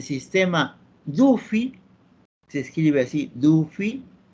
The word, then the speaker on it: Duffy: Por ejemplo, se mencionaba del sistema Duffy, se escribe así, Duffy. Nosotros leemos, ya nos hemos un poquito distorsionado, un poquito no estamos en English, digámoslo así, decimos Daffy, ¿no?